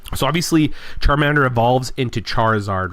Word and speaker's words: Charizard: He thought his name was Charlesard. Like, C H A R L Z A R D. Charizard.